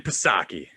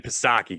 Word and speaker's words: Psaki: I said we'll circle back like Jen Psaki, guys. Joe Biden's press secretary that circle backs. I think the P is silent.